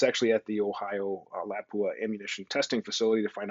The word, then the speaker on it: Lapua: Americans, we pronounce it Lapua, but I believe it's pronounced Lapua.